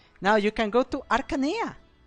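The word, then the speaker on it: Archanea: Now you can go to Aranea. Going to go to Arana. And it's always with a K sound because I see some people pronounce it as Achanea and I just die.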